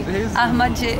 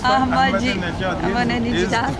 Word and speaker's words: Ahmadinejad: Can you pronounce it for me? Ahmadinejad. Well now, yeah. That's Ahmadinejad.